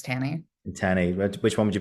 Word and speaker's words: Tanney: I can say it's like Tanney, but it's Tanny.